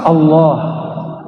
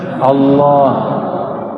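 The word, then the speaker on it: الله: Lafaz Allah, coba baca Allah. Saya orang Sunda bacanya Allah. Ya, al itu bukan dia lam ketemu lam. Allah harus disambung, bukan mati dia.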